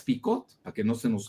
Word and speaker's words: Picot: Sykes se escribe S-Y-K-E-S, y Picot como la sal de uvas Picot, para que no se nos olvide jamás.